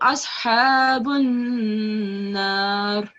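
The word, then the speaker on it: أصحاب النار: So, ashabun nar. So you saw how I kept the noon sound in my throat for longer.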